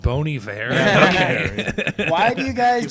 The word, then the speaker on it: Bon Iver: Actually, it's pronounced Bon Iver.